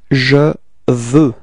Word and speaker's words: veux: And the form we get is je veux. Repeat. Je veux. Okay, so you can see that the final X is not pronounced, okay? It's je veux. Je veux.